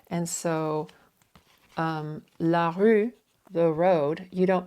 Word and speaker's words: rue: And that is to help you understand that in French, not all letters written are pronounced. And so la rue, the road, you don't pronounce the E.